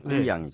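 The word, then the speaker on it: 贵阳: 네, 중국 발음은 꾸이양이죠.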